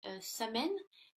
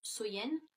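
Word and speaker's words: Samhain: de l'année donc était samen donc qui est prononcé qui se prononce Soyen.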